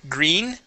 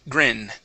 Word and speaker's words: grin: grin we're going to use the short I sound instead of green it is grin grin good good okay now